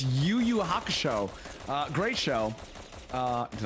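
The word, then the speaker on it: Yu Yu Hakusho: till you wait till you hear how I pronounce the show's name it's YuYu Haka show uh great show uh did I say it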